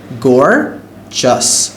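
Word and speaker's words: gorgeous: একটা পেইন্টিং অনেক সুন্দর প্রোনাউন্সিয়েশনটা হচ্ছে গর্জাস গর্জিয়াস good boy ইজ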